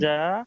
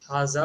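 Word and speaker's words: هذا: Okay, while pronouncing Haja haza, masjidun. you have to omit your j sound and put z sound. Haza, not haja.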